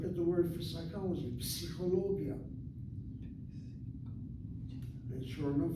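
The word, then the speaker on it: פסיכולוגיה: So when a word like psychologia has 1 syllable, psi, ho is the 2nd syllable, lo is the 3rd syllable, gi is the 4th syllable, ya is the 5th syllable. 5 syllables from psychologia, and syllable number 3 is accented.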